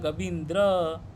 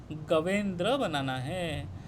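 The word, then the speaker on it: गवेन्द्र: जाता तो बन जाएगा गविंद्र लेकिन गविंद्र शब्द गलत है ठीक है गविंद्र ये गलत अशुद्ध उच्चारण हो जाएगा ठीक है लेकिन हमें बनाना क्या है गवेंद्र बनाना है तो इसको क्या करने से गवेंद्र बनाएगा?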